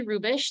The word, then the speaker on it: Hrubes: My name is Hrubes, that's how you pronounce my last name, and I have the